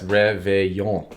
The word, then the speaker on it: réveillon: Yes, réveillon. No ol. There you go. Keep the ols out of there. Réveillon.